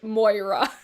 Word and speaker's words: Moira: commenting and they even dm either like it's pronounced moira like i know i just can't pronounce [